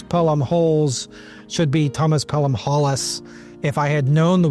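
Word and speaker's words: Pelham-Holles: Apparently we're supposed to pronounce Newcastle's name as Pelham Hollis, not Pelham Holes.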